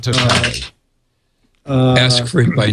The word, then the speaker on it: TOTALe: It's pronounced TOTALE. TOTALE. You know, it's very funny because Dennis kept saying it's total. Totally. I thought it could be total, but depending on what language you're speaking, it could be total, it could be totale. So I looked it up, and in one of the press releases, it says we pronounce it TOTALE.